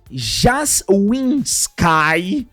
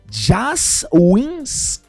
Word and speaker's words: Jaswinski: O roteiro estaria sendo escrito por Anthony Jaswinski. Belo nome, né? Né? Praticamente é quase um Jaws o nome do cara. É Jaswinski ou Jaswinski. Escolha a pronúncia.